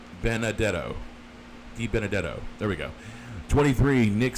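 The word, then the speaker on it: DiBenedetto: 24 Matt De I always mis I always mispronounce his name D Benetto beat D Benadetto de Benadetto there we go 23 Nick Sanchez 22 Connor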